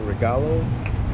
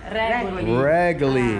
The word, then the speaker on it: Regoli: So this place is called Pasteria Regalo. I believe, is that how you pronounce it? But everything is A1 here. Highly recommend. How do you pronounce the name of this cafe? Regoli.